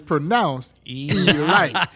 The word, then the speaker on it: Elite Giants: But it's pronounced Elite.